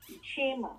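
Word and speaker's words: क्षेम: Kshema. Kshama wala, kshema. Shema. Yes. Oh, the K is silent, S-E-M-A? Yes.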